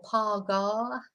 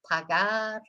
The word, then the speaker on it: pagar: So we don't say casa or pagar. You know, we've got to remember, you've got to think of the northern way of pronouncing things, which is the short, I call it the short A. So it's like, as I say, glass instead of glass, grass instead of grass, etc. So remember, short A.